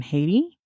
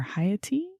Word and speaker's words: Haiti: first showed up in haiti or haiti if you really want to pronounce it right back when it was